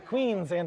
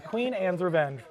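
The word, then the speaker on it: Queen Anne's Revenge: they've really yes so this is the queen ands Revenge I got to always say it right some people say the queens and no it's the queen ands Revenge um this one is from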